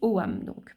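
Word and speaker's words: Ogham: Et donc, bien que ça s'écrive Ogam, dans l'irlandais moderne, on le prononce Oam.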